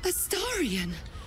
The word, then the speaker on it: Astarion: Astarion? It cannot be. That's how it's pronounced?